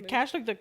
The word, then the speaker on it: cache: The cache, like the computer cache? I don't know. C-A. Yeah. Cache. Okay.